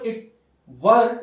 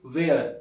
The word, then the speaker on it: were: we were we were and guys make sure it's were it's not rare there are certain people who say where they where they were it is not pronounced